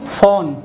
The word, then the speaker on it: fawn: ठीक है, यहाँ पे लिखा है FAWN, FAW का उच्चारण यहाँ पे फिर से देखो अ के रूप में हुआ, इसी वजह से इसको हम लोग क्या पढ़ेंगे, फॉन।